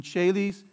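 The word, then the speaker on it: caelis: a chili's here it's a soft c sound in cheli's or a hard k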